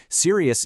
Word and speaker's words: serious: Serious is a huge one. Learners love to squeeze this into two syllables, but native speakers stretch it out to three.